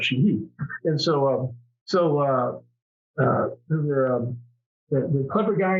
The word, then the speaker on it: Sheehy: And when your name is Sheehy, it can be Sheehy or Sheehy. The Irish pronunciation would be Sheehy.